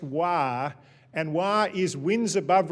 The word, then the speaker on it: WAR: presentation on something called wah which is spelt war but is pronounced wah and why is Wins